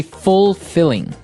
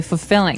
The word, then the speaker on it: fulfilling: You don't say fulfilling. No, you say fulfilling. Fulfilling. So the L there is kind of silent. Kind of optional.